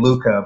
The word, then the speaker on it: LuQa: So I figured, why don't we change the K to a Q? And we just still pronounce it the same LuQa, but we just have the Q in there.